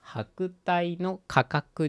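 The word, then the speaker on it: 百代の過客: ね文章からです月日は白帯の価格にしてっていう風に読むんだったねはいそこら辺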